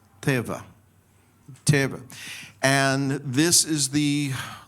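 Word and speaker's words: תבה: And it's pronounced teva.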